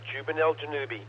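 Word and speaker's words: Zubenelgenubi: pages and websites telling you how you should pronounce jubel janubi that's right juvel janubi it takes a lot of websites it's originally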